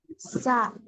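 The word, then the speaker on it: ث: সা টান দেন, একালিপ টান দিতে হবে, সা, হা।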